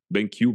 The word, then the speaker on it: BenQ: vidéo deun moniteur bankq parce que le Q se prononce dans ce nom-là ouis ben BenQ B ça fait un peu triste B BenQ ouais BenQ et des pixel